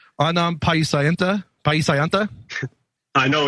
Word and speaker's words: Paiseanta: Adam Paisayanta, is that right? Yes. Adam Paisayanta. Okay, just making sure I get it right.